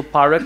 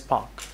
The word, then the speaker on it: park: place and then you mispronounce the word Park as Park so parak is wrong it should be pronounced as Park and be confident trust